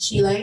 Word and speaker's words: Chile: Chile. It's pronounced Chile.